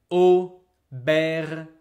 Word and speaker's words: aubergine: Berin be careful examples later in French Au or is always 100% pronounced like O like normal regular letter O.